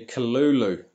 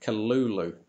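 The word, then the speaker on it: Cthulhu: And it's supposed to be K-Lul-Loo, according to this YouTube link, K-Lul-Loo.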